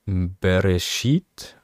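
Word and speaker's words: בְּרֵאשִׁית: sieben Wörter ja Leerzeichen sieht man ja und ausgesprochen wird es jetzt bereschit bara Elohim klingt irgendwie nach einer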